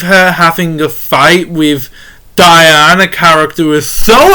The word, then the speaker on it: Diane: And by the way, it is spelled Diane as in DIE hyphen ANN, like Diane.